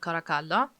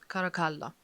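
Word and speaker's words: Caracalla: uh Brothers G and kakala yeah kakala because in Italian it's pronounced kind of that way okay I've been living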